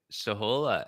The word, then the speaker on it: Shohola: Is it Shahola? Shahola, SHOHOLA. Shahola. Yes, I'm getting it. I was saying it right.